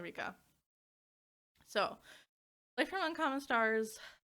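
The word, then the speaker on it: Ryka: wasn't sure if it was Rika. It's definitely Rika.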